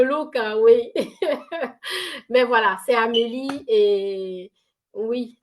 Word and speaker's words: Amélie: c'est Amélie et oui Amélie c'est a M e l i généralement des des fois les gens mettre Amélie comme Amélie à la française mais sachez que mon prénom s'écrit vraiment a M e l i euh je vous j'aurai